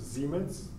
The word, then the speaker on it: Siemens: siemens dont souvent enfoncé siemens en remet allemand ça se prononce zim's met donc le symbole